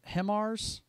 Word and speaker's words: HIMARS: possibly from ah i want to say i'm pronouncing this right himars system yes that's perfect an ammunition store in